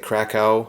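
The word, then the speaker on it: Kraków: I used to keep pronouncing it Krakow, but I looked it up, and apparently in Polish they pronounce it Krakow, so hopefully I pronounced it correctly this time, but that's where it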